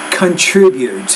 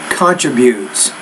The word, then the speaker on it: contributes: one of which was a word stress issue with the word contributes instead of contributes. So you're thinking of contribution, but that's the noun form. But once you change it into the verb, the word stress shifts a little bit on that.